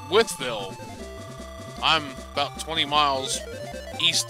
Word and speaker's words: Wytheville: town line but everybody that i've ever heard that's never lived there that sees that the first thing they say is wife bill because it's w-y-t-a-g it's white bill i'm like no ma'am that's pronounced with bill unless you're from there